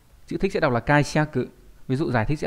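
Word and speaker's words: 解釈: Ví dụ trong từ giải thích đọc là, chữ thích sẽ đọc là kaiseku, ví dụ giải thích sẽ là kaiseku đây.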